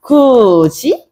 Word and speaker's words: 굳이: 이 치조음인 디귿이 반모음이 되는 이를 만나게 되면서 발음이 될 때는 우리가 어떻게 된다? 굳이? 이렇게 되는 거야. 굳이? 이렇게 된다.